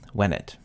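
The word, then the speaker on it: venit: we find out that the E in wenet is short, which means it's present tense. Wenet with a long E is perfect, came, while wenet with a short E is present tense, comes.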